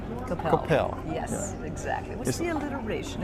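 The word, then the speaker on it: Coppell: Capel or Coppel? Capel.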